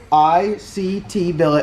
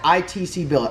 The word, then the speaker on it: ICT Billet: ICT Billet. I'm going to get through the whole video today and not pronounce it ITC Billet.